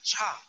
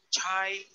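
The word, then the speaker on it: 差: Pero con chu ya cambia su pronunciación, ya no es cha, es chai.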